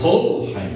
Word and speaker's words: Polheim: Então, o meu sobrenome também, Polheim, na verdade, Polheim, né? com a sílaba tônica na primeira sílaba, porque pelo que eu conheço, a língua alemã tem as sílabas tônicas sempre na primeira sílaba.